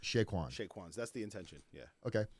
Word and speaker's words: Chez Quan's: But it's pronounced Chez Quan. Chez Quans.